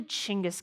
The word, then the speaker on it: Chinggis: with the name of genghis khan which actually isn't even how you say it it's actually chingas khan this actually often happens